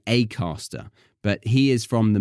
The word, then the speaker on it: Acaster: as glass and grass so that's why he says his name is James acter because it's a name I feel like I need to imitate that so yes it's a bit unusual for me to say acter but there we go his name is acter James acter and the book is